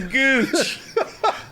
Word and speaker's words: ghooch: Get your gooch. The H is silent when the G slaps on there, but Yeah, good.